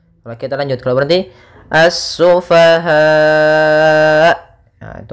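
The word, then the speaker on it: السفهاء: Karena di sini mad mad wajib muttasil, yang mana 4 harokat, 5 harokat, ataupun 6 harokat. Kalau 6 harokat yaitu dia mad arid disukun. Maka cara membacanya as-sufaha.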